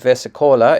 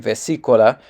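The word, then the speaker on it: versicola: I said vesicola. It's actually vesicola. I put the stress on the wrong syllable.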